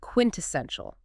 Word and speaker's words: quintessential: The final one is quintessential. Quintessential. Quintessential. 4 syllables. Stress on the third.